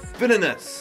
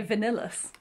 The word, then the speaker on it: Villainous: Villainous. Yay! Did I say it right? Yeah! You usually say vanillous, which is quite fun.